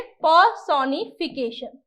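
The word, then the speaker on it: personification: इसके अंदर र साइलेंट होता है ना, क्या पढ़ेंगे, पर्सोनिफिकेशन।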